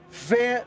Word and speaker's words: van: van zile for example v is pronounced like a f so it's fan fanzi zile interesting